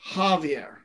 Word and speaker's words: Xavier: a pronunciation thing because x can be pronounced as a ha sound oh well i could have horn instead of zorn so you know like uh so like in spain javi xavier we think of like professor x um that is pronounced javier okay what they're referring